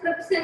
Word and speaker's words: trypsin: तो पैनक्रियास में पहला है पैनक्रियाटिक एमाइलेज, दूसरे का नाम है ट्रिप्सिन, TRY, राय की स्पेलिंग होती है बट इट is pronounced as ट्रिप्सिन in this, TRYPSIN, ट्रिप्सिन।